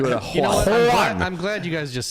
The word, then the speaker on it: Juan: Juan. I'm glad you guys just said that. Juan is not pronounced with an O sound. It's a U sound. One, the same as cup.